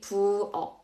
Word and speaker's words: 부엌: We say 부엌. And the last word we have here is 박, okay, which means outdoor. So 박, 부엌, 약, all of these three will be pronounced as G sound.